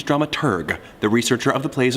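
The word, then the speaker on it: dramaturg: The correct pronunciation is drama tur, the researcher of the plays and operas being put on.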